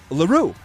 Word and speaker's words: L'Heureux: Zachary LaRue. You got it. But it's spelled L'Heureux. Oh, come on. Yeah, he's French.